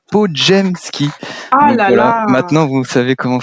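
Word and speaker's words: Podziemski: ma gueule bah ouais et ça se dit et ça sécrit podemski il faut dire podjemski voilà maintenant vous savez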